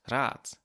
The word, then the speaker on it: Rad: But it does have the effect that, for example, the words for advice and wheel are both pronounced Rat with a T, even though Rat as